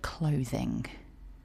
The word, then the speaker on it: clothing: Firstly, let's think about the word clothing. Notice the pronunciation. 2 syllables with stress on syllable 1.